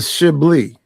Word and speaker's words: Chablis: It's a Chablis. Chablis. Yeah. Wait, spell that. Wait, hold on. Yeah. Spell that shit. Okay. CHABLI. Oh. No. CHABLIS. Yeah. A Chablis. Yeah. Okay. Right. The S is silence, like the G is silent in lasagna.